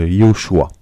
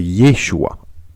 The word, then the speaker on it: Yeshua: liée au choix ou yeshua alors pourquoi je fais cette vidéo c'est afin de rétablir la vérité je vois beaucoup de personnes qu'ils acquise appelle jésus lyon choix alors que c'est yeshua alors quelle est la